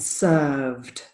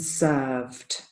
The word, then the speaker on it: served: with this IDI ending this is very typical for Spanish speakers to get an extra syllable at the end all of these words do not have an extra syllable so the pronunciation is called grilled based steamed and served yeah I'll do them